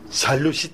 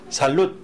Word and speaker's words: salud: 그때 쓰는 단어고 뒤에 D자를 발음 안 하니까 살롯 이렇게 발음하셔야 돼요.